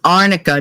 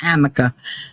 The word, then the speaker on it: arnica: somebody said you know it's arnica not Amica if she was using